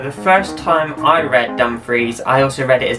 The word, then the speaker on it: Dumfries: And how do you pronounce that name? Dumfries. Dumfries. Nope. Dumfries. You're so close. It's Dumfries.